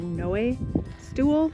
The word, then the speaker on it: Noe Stool: So that rock cut I was just at where I had lunch, that's called like, I would pronounce it Noe or Noe stool, but it's N-O-E and then stool.